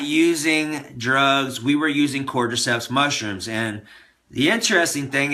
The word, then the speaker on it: Cordyceps: It's spelled C-O-R-D-Y-C-E-P-S.